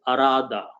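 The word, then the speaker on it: أراد: And Alif, if I put an Alif, it becomes 4 letters, and it is pronounced as Arada.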